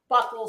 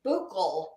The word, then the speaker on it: buccal: Actually, it was yesterday, that everyone mispronounces that. It is not buckle swab. It is buccal swab.